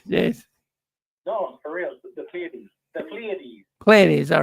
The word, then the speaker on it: Pleiades: It was, yeah, it's Pallades. No, who said Pallades? Pronounced seven. There was two sevens. It's pronounced the Pleiades.